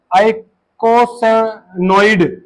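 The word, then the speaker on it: eicosanoid: नहीं रहती, है ना, ई से शुरू होती है, आइकोसैनोइड, एरेक्नोइड, ये होते हैं एरेक्नोइड एसिड से डेरिवेटिव, राइट, जो इसको आई से प्रोनाउंस करते हैं, आइकोसैनोइड हार्मोन होते हैं,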